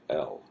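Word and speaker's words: אל: that is the term El. Here again is the aleph with the vowel attached to it, El.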